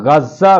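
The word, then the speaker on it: ग़ज़ा: नाम इसके प्रमुख शहर गजा यानी उच्चारण गज्जा भी होता है पर पड़ा था इसका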